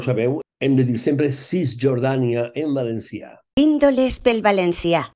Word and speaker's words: Cisjordània: Cisjordània, que es pronuncia efectivament així, en valencià. Cisjordània, la C, per descomptat, i la J, davant de la O, cap problema, Cisjordània.